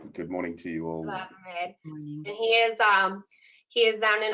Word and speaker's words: Schravemade: Schravemade. Good morning to you all. Schravemade.